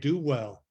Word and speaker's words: Duvall: wow and I remember it because uh they pronounced my name do well and it's like Oh